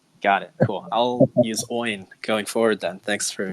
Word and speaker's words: OIN: name out loud it's it's oin is that how you pronounce it yeah yeah it's like a coin without the t oh okay okay so